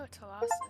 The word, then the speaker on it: Thalassa: The Thalassa, they Oh, Thalassa is how you say it.